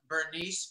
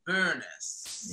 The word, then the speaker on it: Bernice: they moved from and it was not pronounced bernice it was burnis yes maryland it's that